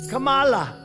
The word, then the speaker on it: Kamala: wrong and she interrup my name Kamala like Kama I remember that like a Kama H1 N1 that's